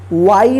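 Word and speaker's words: way: ठीक है, क्या रूल है कि जब ए के बाद वाई रहे या आई रहे, दोनों में से कोई एक रहे, तो इस ए का ए उच्चारण होगा।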